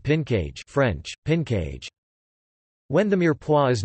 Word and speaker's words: mirepoix: A mirepoix, Mirepoix, French pronunciation, Mirepoix, is a flavor base made from